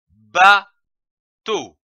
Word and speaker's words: bateau: Ajoutons une autre syllabe, comme par exemple to, T-E-A-U, to. L'association de ces syllabes donne le mot bateau, comme un bateau.